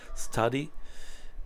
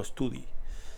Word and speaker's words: study: y último verbo study study es estudiar cuidado que es study no estudie study Vale y un añadido